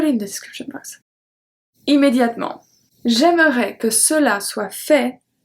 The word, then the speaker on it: immédiatement: Immédiatement. We don't pronounce the E.